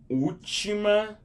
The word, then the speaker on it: última: Again, that's the same accent that you see on top of the A, which just makes it more like an open sound. You would say the letter U, more open sound. Última, because there's an accent above it, on top of it.